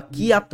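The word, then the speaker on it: kyat: Myanmar ringgit answer হচ্ছে Myanmar cath বা কিয়াত বলা হয় এটাকে কিয়াত বা ক্যাথ বলা হয়ে থাকে মায়ানমারের মুদ্রাকে অলরাইট পরের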